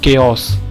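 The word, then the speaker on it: chaos: अगला है दोस्तों, ये वर्ड बहुत अच्छा है दोस्तों, इसे प्रोनाउंस करते हैं केओस।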